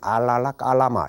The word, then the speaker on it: 알라라 깔라마: 그래서 어떤 곳은 아라라 칼라마 혹은 어떤 곳은 아라다 칼라마 이런 식으로 표현됩니다만은 원 발음에 가깝게 하자면 알라라 깔라마 이런 식으로 이제 되어지는 겁니다.